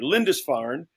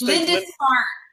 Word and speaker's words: Lindisfarne: Lindisfarne. Just Lindisfarne.